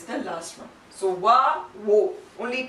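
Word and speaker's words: を: And one other special point about this, even though the pronunciation is wo, when you read it in some sentences, the pronunciation would sound like o also at times.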